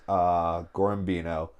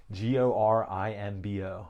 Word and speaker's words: Gorimbo: We got Vicente Luque versus Gorimbino. Did I say that wrong? Yeah, dude. I can't see that far. Gorimbo? Yeah. Spell it. Gorimbo. So Gorimbino. Gorimbo. Yeah. Yeah, okay.